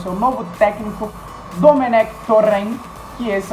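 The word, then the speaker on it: Domènec Torrent: Agora falando um pouquinho do Mengão, que está muito próximo de anunciar o seu novo técnico, Domenech Torrent, que esse é o certo.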